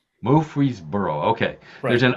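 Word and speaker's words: Murfreesboro: That's a that I know I'm mispronouncing it, but how do you how did you pronounce it? Mree Burrow. Mree Burrow.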